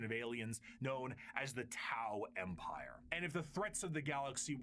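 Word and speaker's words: T'au: It's tao as in t au like the Greek letter.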